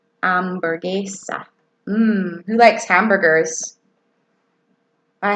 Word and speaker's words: hamburguesa: see Caleb and then amber geisha amber geisha yes Heather see out load on your house guys say amber geisha and we don't pronounce the H that's silent amber geisha hmm who likes hamburgers